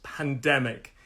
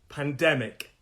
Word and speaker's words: pandemic: make that small pandemic three syllables again three syllables pandemic pandemic pandemic three syllables pandemic the stress is on the second syllable pandemic pandemic i hope you're